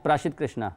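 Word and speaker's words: Prasidh Krishna: ठीक से शुरू बोलने नहीं आता प्रसाद प्रशित प्रशित कृष्णा प्रशित अच्छा वाह बड़ी जबरदस्त प्रोनाउंस की प्र प्रशित कृष्णा इन्होंने तीन विकेट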